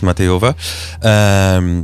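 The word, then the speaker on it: Matejová: and then we will continue on with Matejova. Am I saying it correctly? Yes, Matejova.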